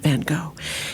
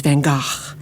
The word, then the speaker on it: Van Gogh: vincent van gaal in hollywood he was vincent van gogh in 19th century netherlands he was van gaach which is the correct pronunciation but i like your spirit challenging me